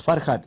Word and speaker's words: Farhat: Es Farhat, F-A-R-H-A-T. Sí, la H se pronuncia como J.